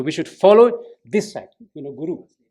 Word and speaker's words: guru: So we should follow this side, Guru. But in Tibetan, they read like a Tibetan style, and they say Kuru. So it shouldn't be Kuru. They might read Kuru, if there's no prefix.